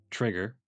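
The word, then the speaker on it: Chrigar: g a r but pronounced trigger like the gun because he is a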